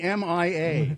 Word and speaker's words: Myah: MYAH. MYHA. MYAH. The H is silent. Yeah. Yeah. It should just be MIA.